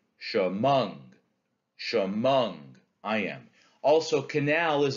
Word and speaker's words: Chemung: Chemung is an iamb. It's unstressed, stressed, right? Chemung.